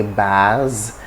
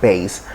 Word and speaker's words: bass: base so base uh as you can see we hardly get the pronunciation most of us say bars for a male voice that is deep you know after you have a tenor you have baritone and you have bass so it's not bass